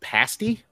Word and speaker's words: pasty: it's like an up like a it's it's pronounced pasty Pasty it's like an upside down pot pie